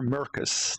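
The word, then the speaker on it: Maercus: And it's either Marcus or Mercus, depending on which region and which version of the game you're looking at, because in English in North America and English in PAL, it's spelled M-A-R-C-U-S and M-A-E-R-C-U-S.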